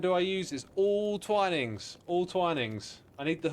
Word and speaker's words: Twinings: Wait, Twinings. You thought it was Twiddings. Oh, I've already said Twinings.